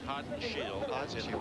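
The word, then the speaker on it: Haudenschild: And it is pronounced hot and shield windshield because that child on the end, the wild child, a lot of people mispronounce it.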